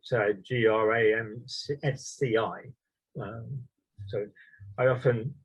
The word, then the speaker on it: Gramsci: individuals one is antonio gramsci that's spelt uh g-r-a-m-s-c-i so i often pronounce it gramski but my italian friend always corrects me it's